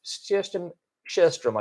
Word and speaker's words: Sjöström: I think I don't know if we do a special on it, but I don't know if Sjöström, I should say. I learned how to pronounce his name properly, specifically.